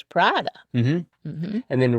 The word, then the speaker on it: Prada: It's Prada, it's not Prada? No, Prada.